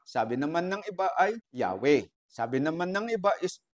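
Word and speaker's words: Yahweh: Four letters Y H W H Ngayon ang pronunciation ng iba ng mga biasa sa Hebrew language is Yahwe. Yan daw po ang tunay na pronunciation.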